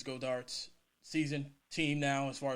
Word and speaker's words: Goedert: Do you think it's Goedert's season team now as far as tight end goes? I think you're pronouncing his name wrong. I think it's Goddard.